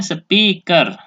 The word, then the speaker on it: speaker: Ya, dibacanya speaker.